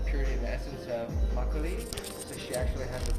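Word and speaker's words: 막걸리: How do you pronounce this? Makgeolli. Makgeolli.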